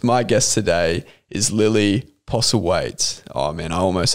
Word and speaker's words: Postlethwaite: That TH in the last name. Yeah. No, very confusing. Silent. So silent.